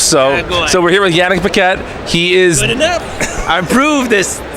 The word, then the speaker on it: Yanick Paquette: get it closed so so we're here with Yannick Paquette he is I prove this pronunciation he recently completed one woman to earth